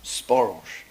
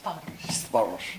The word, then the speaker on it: Sparos: what about you know got to get the pronunciation right Sparos. Yes, Sparos.